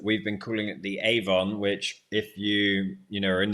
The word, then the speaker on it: Avon: posted through your door, it's pronounced Avon, but it's the Avon in Australian. Ah, okay. So you have corrected my pronunciation. Well, also mine. I've been pronouncing it Avon, and I'll continue to pronounce it Avon because that's the way it should be said. But the Australians say it Avon.